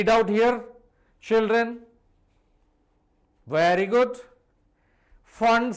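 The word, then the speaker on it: Pfund: Fund series, don't pronounce as is the P fund, it is for hydrogen atom.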